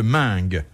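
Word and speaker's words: Meung: Qu'ont fait ensemble Guillaume de Loris et Jean de Mingue?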